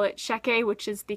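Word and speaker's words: Checquy: was a rook in the Shecky and I pronounced it check a the entire time even though it told you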